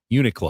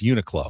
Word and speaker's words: Uniqlo: I was told by my buddy Scott it's pronounced Uniqlo. Oh, not Uniqlo? It's not Uniqlo. It's Uniqlo.